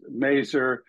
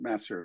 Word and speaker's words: Masur: I've heard many many times as as is merer Missour I mean all kinds of things but we pronounce it masser so now you know I do AP don't